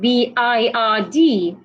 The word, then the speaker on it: bird: last two words that I have I have b i r d and that is pronounced bird and I have b e d